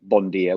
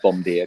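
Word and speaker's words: bonjour: me when i tried to say bondier which is good morning i said bomb beer because it's spelt differently but i just thought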